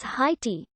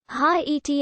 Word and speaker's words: Haiti: used to show that the second vowel is pronounced separately as in the word naive in english this rule for the